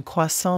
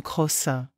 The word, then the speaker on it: croissant: Lisa une touriste allemande a commandé un croissant mais l'a prononcé comme crossin le serveur a souris